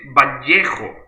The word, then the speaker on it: Vallejo: Because Vallejo is Spanish. Actually, we pronounce it Vallejo.